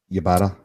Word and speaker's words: Ybarra: Ybarra.